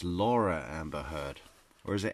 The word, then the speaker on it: Laura: Fantastic lawyers Amber less less so right Amber laer oh it is Amber Laura so she up just introducing